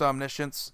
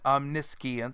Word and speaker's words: omniscience: many people call this omniscience because it is basically science and Omni put together but really it's just omniscience and then you have this then you have the small percentage of people that actually pronounce it I'm miss Qian s-- because their grasp of the English language is just terrible so anyway guys that